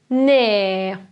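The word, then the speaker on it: nē: thing it means if no sounds like ne again we have this garum zeem which is the sign of length above the letter means no and before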